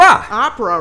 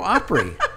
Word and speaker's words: Opry: And she's, you're saying that wrong. I said, what do you mean we're saying it wrong? That's the Grand Ole Opry. Opera, right?